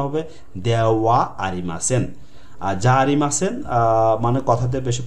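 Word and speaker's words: ではありません: এই যে দে ওয়া তেন তেন দে হার পর একটা ওয়া উচ্চারণ হবে দেওয়া আরিমাসেন।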